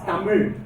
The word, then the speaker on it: Tamil: So the tip of the tongue has to touch the roof of your jaw.